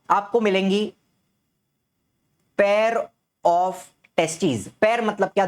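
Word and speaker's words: testes: एक रहेगा तो टेस्टिस दोनों रहेंगे तो टेस्टीज़ बोलने में भी फर्क है। ठीक है? प्रोनाउंसिएशन में भी फर्क आता है।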